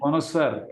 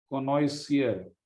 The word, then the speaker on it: connoisseur: कॉनोसर, okay, कॉनोइसियर, कॉनोसर, आई एम अ कॉनोइसर। Okay, इसमें spelling शायद पता नहीं गलत लिखी है मैंने, कॉनोइसर ऐसा होता है। ठीक है, तो कॉनोसर, कॉनोसर बोलते हैं एक्चुअली इसको।